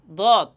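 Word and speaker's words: ض: দত হরফের মাখরাজ হচ্ছে জিহ্বার ডান ডান বাম পার্শ্ব। জিহ্বার ডান বাম পার্শ্ব এবং উপরের মাড়ির দাঁতের গোড়ার সঙ্গে লাগাইয়া দত হরফটি উচ্চারণ হবে।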